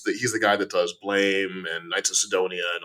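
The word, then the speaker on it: BLAME!: and if you look I think it's Blom is actually how you're supposed to pronounce it but I'm gonna call it blame because I was born in Chicago that book is biomega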